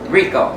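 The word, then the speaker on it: Ricoh: Rico. Is that how you say it? Yeah, Rico.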